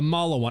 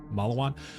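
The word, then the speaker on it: Maliwan: So the one I'm using right now is a Malawan. I think that's how you say it. Like, I've never heard anyone say this, so I'm saying it how it looks like it's written, Malawan, M-A-L-I-W-A-N, Malawan.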